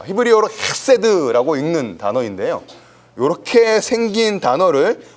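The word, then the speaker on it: חסד: 썼다고 말 못하는 거죠 이렇게 생겼습니다 아 히브리어로 헤드라고 읽는 단어인데요 요렇게 생긴 단어를 우리 번역에서 해라고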